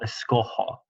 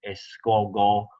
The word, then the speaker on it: escojo: All right, the G would turn to a hard G if it were to remain in the yo form. Escogo doesn't match escoger, so it would be escojo. The J in Spanish is an H sound.